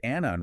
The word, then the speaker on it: Annan: He liked to point out that Annan rhymes with cannon.